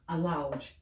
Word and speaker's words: aloud: meanings but they are but their pronunciations are almost the same or the same okay so look at